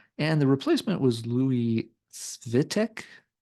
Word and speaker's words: Svitek: They did have one guitarist exit the band, and the replacement was Louis Svitek. Sorry for the pronunciation. It's Svitek.